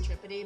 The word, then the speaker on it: Tripodi: There's Tripodi, but my brother and I, since high school, we claimed the Italian pronunciation.